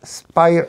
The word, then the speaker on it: Spire: más lío 1962 profesor esto se pronuncia spire spears ayer ayer o